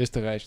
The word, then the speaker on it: Österreich: Österreich, that's how you say it. From Austria in German.